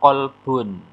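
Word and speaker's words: قلب: kecermatan kita yang ketiga qolbun bun Salim Q pakai Q qof ya itu artinya hatiolbun Tapi kalau kalbun pakai Kaf itu artinya anjing ya demikian pula pelafalan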